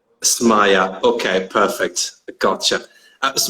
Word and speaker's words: Smayah: properly your name first i know a lot of people just call me whatever they want or they call me smile but my name is maya samaya okay perfect i gotcha